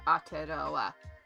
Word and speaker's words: Aotearoa: So AO is one syllable, and then we hit a consonant, so that becomes a new syllable. So tia, and then ro, because we hit the so that's a new syllable, and then on the end is an extra syllable. So Aotearoa.